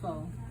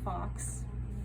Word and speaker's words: faux: this like in a faux leather how do you spell faux f-a-u-x thank you it's not pronounced fox which a lot of students think that how you pronounce it um so it's f-a-u-x